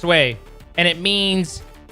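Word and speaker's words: Oui: Pretty sure it's pronounced we? No. No. I speak fluent French. It's pronounced way.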